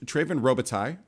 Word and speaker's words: Treyven Robitaille: For pronunciation, is it Treyven Robitaille?